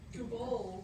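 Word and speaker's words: googol: And there's a word that everybody will think it's Google. It's not Google. It's, how do you say, Missy? Google. Google. So it's like a G-O-L.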